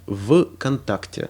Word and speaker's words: VKontakte: Vkontakte or How do you pronounce it again? Vkontakte.